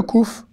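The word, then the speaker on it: קוף: Et le son, évidemment, c'est un K. Que, kouf. Par contre, contrairement au kaf, le kouf se prononcera toujours que.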